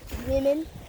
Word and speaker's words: women: Did you know woman's actually pronounced women? Yep. I did. More than one woman is pronounced women. For what? Why is it pronounced women? It doesn't even have 2 E's.